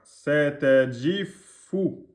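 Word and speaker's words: ستجفّ: Satajifu. Satajifu. Et on prononce avec la shedda. Hein. Satajifu. Et le ji, c'est DJI. DJI. Ji. C'est pas J. C'est pas satajif.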